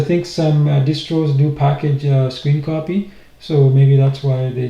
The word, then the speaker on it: scrcpy: and it's pronounced screen copy. So I was wrong when I was calling SCRCPY.